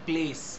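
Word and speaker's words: place: যেমন প্লেস, পিএলএসি ই লেখা হয়, কিন্তু আমরা সি তে উচ্চারণটাকে শেষ করে দিই।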